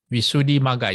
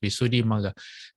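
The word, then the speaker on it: Visuddhimagga: Visuddhi Magga, yes, that's how it's pronounced. Visuddhi Magga.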